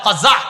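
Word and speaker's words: قزع: বলেন আমার সাথে সবাই কজা বলেন আবার বলেন কজা কফ যা আইন বানানটা কজা বলেন কজা করা নিষেধ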